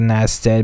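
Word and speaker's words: Narragansett: british revenue ship gusset and our i got nasta bay i am terrible at my pronunciation n a r r a g a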